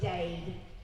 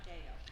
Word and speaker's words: Dade: It's Dade. It's D-A-D-E, by the way. Not Dale. It's not Dale, it's Dade Phelan.